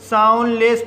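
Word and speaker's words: soundless: इसी तरह से साउंडलेस, साउंडलेस वर्ड में पहला सिलेबल एन डी से समाप्त हुआ है और दूसरा सिलेबल कंसोनेंट एल से शुरू हुआ है, इसलिए डी साइलेंट रहेगा, इसलिए इसे साउंडलेस पढ़ा जाता है।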